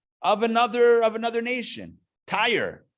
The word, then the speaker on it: Tyre: another of another nation tire said he pronounced it t-y-r-e tire sounds like something you put in a car anyway tyre the king